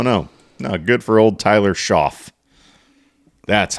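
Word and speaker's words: Shough: Good for old Tyler Schoff. That's how it's pronounced.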